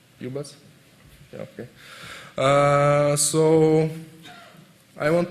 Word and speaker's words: ubus: It's the right pronunciation. UBus?